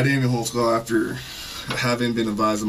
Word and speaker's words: Holtzclaw: How do you say your name? Daniel Holtzclaw. Holtzclaw. What is that? It's German.